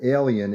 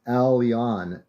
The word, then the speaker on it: Aleon: It's not alien, it's Aleon, A-L-E-O-N.